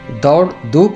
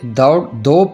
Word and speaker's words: دوڑ دوپ: نئے عہد نامے میں۔ اس کا درست تلفظ دوڑ دھوپ نہیں بلکہ دوڑ دوپ ہے۔ دوپ ہندی زبان کا